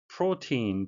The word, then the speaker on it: protein: Protein, 발음이 되시겠는데요. O는 이중모음이고요. 뒤에 EI는 장음이 되겠습니다.